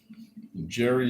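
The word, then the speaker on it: Jheri: Jerry is spelled J H E R I.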